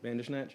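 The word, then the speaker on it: Bandersnatch: uh led by former Santana and from and pronounced this right for me. From us Bander Snatch members. Is that right? Yeah. Bander Snatch.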